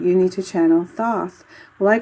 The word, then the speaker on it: Thoth: not pronouncing it right this is my way of pronouncing it as thoth not toss because there's a th at the beginning so i don't understand why some people are saying toss um instead of doth i don't know it